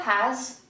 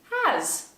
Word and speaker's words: has: When do we use has? I have, you have, he, she, it has, we have, they have. Remember, the S in has is pronounced z, like zebra.